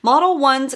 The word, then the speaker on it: Modelones: to me models one model ones i think you pronounce it model ones color cube i got